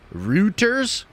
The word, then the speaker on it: Reuters: how do I say it what's this word Reuters Reuters Reuters like I said before Reuters okay cool uh